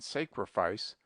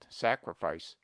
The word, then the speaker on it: sacrifice: invariably says Sacrament and sacrifice with a very long a but analogy is against him we pronounced sacred with a long sacred but the derivations are properly pronounced with a short Sacrament sacrifice pronounce grandure Soldier veru